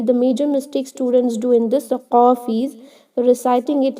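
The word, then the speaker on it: قاف: also there should be you should use your last part of the tongue to pronounce this letter qaf, not the throat.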